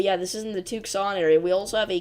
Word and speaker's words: Tucson: But that is how it's pronounced, Tucson.